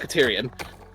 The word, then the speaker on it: Caterium: So are we able to like auto like mining a caterium ore? Caterium. It's pronounced caterium.